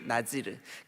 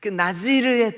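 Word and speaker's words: נזיר: 썼다고 요 나실인 나실인 이게 히브리 말로 날씨 린이 어떻게 발음 한다구요 나 지르 나지를 나지를 뜻이 뭐라고요 구별된 자 구별된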